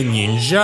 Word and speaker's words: ніндзя: Там ще, до речі, є прикол, що офіційно в українській неясно, як правильно ніндзя чи ніндзя, бо офіційних правил чомусь немає. Точніше, до оригіналу, звісно, нінджа, але якщо буде проскакувати у мене ніндзя та якісь інші не